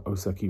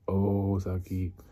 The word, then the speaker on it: Osaki: They put O-H, Saki, and it's in Japanese it's O, big long O sound. There's no H, it's an Osaki. It's not O-Saki, and they spelt it O-Saki.